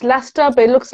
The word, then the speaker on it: Leicester: Pronounced Leicester, but it looks like Leicester.